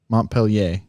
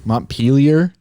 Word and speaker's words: Montpelier: vermont montpelier yep pelier montpellier i think it's how you say it i don't think so montpelier yeah peel your potato peeler okay potatoes tell us